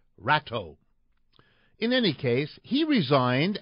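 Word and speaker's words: Rato: out the third one Rodrigo rot r a t o might be pronounced in English as ratau in any case he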